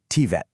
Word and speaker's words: TVET: And just so we're on the same page, that's pronounced TVET.